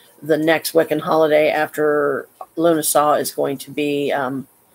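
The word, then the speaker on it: Lughnasadh: or something like that it's a weird spelling but it's actually pronounced Luna saw not Luna sod Luna saw it's um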